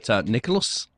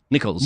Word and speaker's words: Nichols: so a big apologies there at the M Nicholas Nicholls Nicholls Nichols yep n there you go Nicholls yes